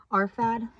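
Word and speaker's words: Arphad: Arfad. Off the books, it's spelled A R P H A D.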